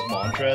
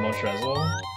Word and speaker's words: Montrezl: And she doesn't even say his name properly. She just says Montrez instead of Montrezl.